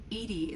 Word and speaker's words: EDI: Edy is the phonetic pronunciation of EI.